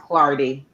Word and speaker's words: Clardy: My last name is Yes, pronounced Clardy.